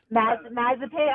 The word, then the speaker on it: Mazepin: Now, how do you pronounce his last name? Mazepin.